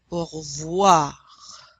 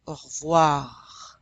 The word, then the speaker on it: au revoir: Au revoir. It's a very dry R at the end. Au revoir. You can barely hear it.